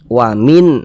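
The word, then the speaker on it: وَمِنْ: jelas dan tidak berdenggung huruf nunnya ini kita baca jelas Wamin nah jelas ah kemudian karena dia tidak didengungkan baca pendek Wamin kholfihim pendek saja w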